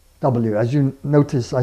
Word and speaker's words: Ł: spell Polish names properly with this special L character, which is pronounced W.